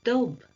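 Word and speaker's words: dubh: sign ification attaches more distinctly to the word dob or do as it is pronounced which means black and then this quote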